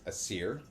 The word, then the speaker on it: Aesir: The Aesir, or that's my understanding of its pronunciation. It's A-E, they're kind of joined together. S-I-R, and then what I have deciphered as Vanir, V-A-N-I-R, which you pronounce as Vanir.